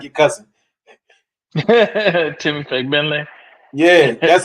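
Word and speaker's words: Fagbenle: like you're cussing Timmy Fentle. Yeah. That's how you say it. But you know you got to be careful saying you just got you just can't put the emphasis on the first syllable.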